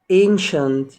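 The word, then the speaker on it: ancient: ديليشس بعد كده قديما انشنت انشنت يبقى يا جماعه النهارده المقطع بتاعنا مقطع مهم جدا وقلنا ما بينطقش السي لوحدها طبعا السي اي والسي اي اي والسي اي او مع بعض بتنطق شين يا رب يكون الفيديو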